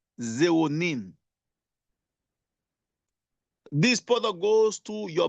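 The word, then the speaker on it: xeronine: See when you take this ni full of irido phytonutrients the active ingredient called the zeronine. Allow me to spell it. X e r o n i n e. Zonin.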